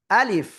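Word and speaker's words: ألف: আ শক্ত, লিফ শেষে এসে নিচে ঠোঁটের পেট উপরের দুই দাঁতের আগার সাথে লাগবে। এই যে আমার দিকে তাকাবেন, আমার দিকে। লাগিয়ে হালকা বাতাস বের করতে হবে। আলিফ, কোনো টান হবে না। আলিফ, কোনো টান কিন্তু দেওয়া যাবে না।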